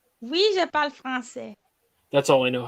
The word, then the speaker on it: français: Parlez-vous français? Oui, je parle français. That's all I know how to say. I'm sorry. No. And you don't pronounce the S when you say français.